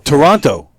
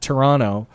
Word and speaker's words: Toronto: leading up to that Toronto they they do not pronounce the T the second T right the first tea